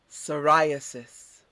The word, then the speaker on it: psoriasis: create produce hallucinations yeah that's psychedelic next word psoriasis repeat this and what is psoriasis psoriasis is